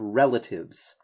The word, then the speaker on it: relatives: The pronunciation of relatives, make sure that you're emphasizing this first syllable, relatives.